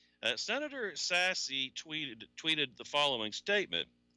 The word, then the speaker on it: Sasse: topic that senator Ben Sasse of Nebraska I just recently confirmed how you pronounce his last name I always thought it was sassy it turns out no it's sass the e is silent although sassy and I